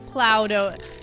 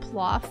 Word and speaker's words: plough: It's pronounced plough. Yeah. Plow is the Irish spelling. It's also used in Britain.